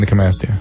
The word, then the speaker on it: Gynecomastia: How do you pronounce that? Gynecomastia.